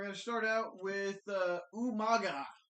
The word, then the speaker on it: Umaga: We're going to start out with Umaga. Umanga. Umanga. That's as William Regal would pronounce it.